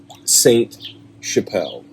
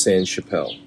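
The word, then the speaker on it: Sainte-Chapelle: San Jose it it no it's like French so it's not spelled like that at all but it's but it's San Chappelle it's uh Saint Chappelle yeah uh but it's pronounced San Chappelle and it's this huge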